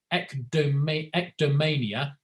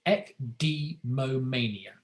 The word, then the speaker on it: ecdemomania: No pressure, but someone with ectomania cannot do what? Settle down, be touched, wear wool, or use a phone. I pronounced that wrong as well. It's ecdemomania.